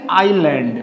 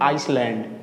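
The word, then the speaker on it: island: तो बच्चों इसको बोलेंगे आइलैंड। मैंने बहुत बच्चों को मिस्टेक करते हुए देखा है। इसको बोलते हैं लोग आइसलैंड। ये गलत है। ये बोलेंगे आइलैंड। क्या बोलेंगे? आइलैंड।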